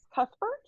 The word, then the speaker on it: Cuthbert: So the second one is The Passion of Miss Cuthbert.